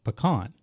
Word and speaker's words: pecan: the nut most commonly used in it is pronounced pean Mis mispronounce them to a local if you